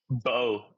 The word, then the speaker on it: Bo: Bo. It's bo. It's pronounced b o bo.